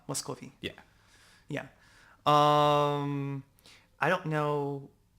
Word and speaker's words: Muscovy: Muscovy. No, Muscovy. Yeah, I've seen it before. I've never pronounced it that way. It's Muscovy. Muscovy.